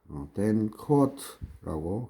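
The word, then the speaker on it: Danckwerts: 해놨는데, 1951년 댕크 뭐 학자 이름이니까 댄커워트라고 그냥 발음하시면 됩니다.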